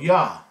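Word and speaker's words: יה: letters here this is the yard and the hey and this gives you the pronunciation of yah you'll find that this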